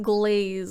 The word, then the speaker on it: Glaz: Glaz? The kobold. My girlfriend plays a kobold. Alchemist. I think I found him. Is it Glaz or like glaze? Like glaze. Glaze like glass?